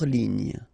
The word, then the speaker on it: ligne: Hors ligne. Final E here not pronounced. So ligne.